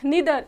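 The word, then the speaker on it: neither: Second है नीदर, इसको हम नीदर भी बोलते हैं और नाइदर भी, दोनों प्रोनाउंसिएशन हमारी ठीक है।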